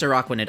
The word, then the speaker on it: Araquanid: I think it's pronounced Araquanid.